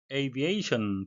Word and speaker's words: aviation: Aviation, 발음에 의해서 되겠는데요. A는 둘 다 A로 이중모음으로 발음이 되겠습니다.